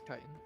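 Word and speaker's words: chitin: I've heard it pronounced both ways. It's kitan.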